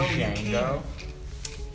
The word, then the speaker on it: Django: Okay, so it's Django. It's D-J-A-N-G-O. Yeah, because the D's not like It's silent. there. and then Monty, he's been pronouncing the framework we use for our robotics website, Django. And I'm like, that's 2 layers of wrong. Because one, if you were going to say it like an American, it would be Django. I said But instead that.